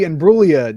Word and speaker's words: Imbruglia: The winner for the Natalie Imbruglia Don't Pronounce the Fucking G Torn Award is Skinamarink.